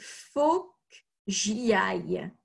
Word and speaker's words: faut que j'y aille: Donc, attention, la prononciation n'est pas très facile parce qu'on ne prononce pas le E. Donc, on dit « faut que j'y aille ».